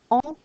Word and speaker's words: on: Now, when this subject is in front of a consonant like P or T, the N in on is silent. On travaille. On parle. However, when it's in front of a vowel sound, we have our liaison.